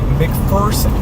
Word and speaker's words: McPherson: I've always said McPherson, Kansas. It sounds like a Kansas town name. But come to find out, it's actually McPherson. And I can't wrap my head around that. It made me sad when I heard that it's actually not pronounced McPherson.